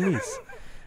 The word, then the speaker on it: Nice: south of france yeah it's from nice uh pronounced nice here in america so anyway eve is